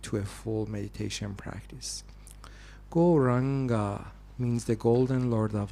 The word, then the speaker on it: Gauranga: Gauranga means the Golden Lord of Love. And it actually has 4 syllables. Go-ra-anga.